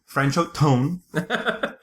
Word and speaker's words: Franchot Tone: Franchot Tone? Franchot Tone. Which literally sounds like a trombone.